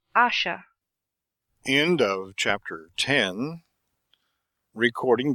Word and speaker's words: Asher: Please pronounce Asha.